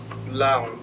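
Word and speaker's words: 라온: it's pronounced um L which is a Korean world it's an old Korean world so a lot of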